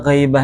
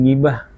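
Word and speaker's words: غيبة: Lah, ada ghaibah di sini, ghaibah, al-ghaibah apa? Ghaibah bacanya lah, jangan gibah. Gibah tuh yang pulang.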